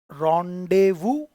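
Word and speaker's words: rendezvous: रॉन्डेवू, रॉन्डेवू pronunciation है ना, रॉन्डेवू, वू, वू, ये बी,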